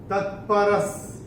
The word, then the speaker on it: तत्परः: और विसर्ग के बाद श, श या स आता है, तो विसर्ग का उच्चारण आधा श, श या स होता है। तो ये कैसा होगा? तत्परस, तत्परस संयतेन्द्रियः।